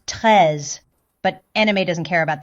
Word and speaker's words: Treize: So, should be pronounced tres, but anime doesn't care about that kind of stuff.